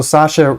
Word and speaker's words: Sasha: And so Sasha rhymes with that, and so Obama's daughter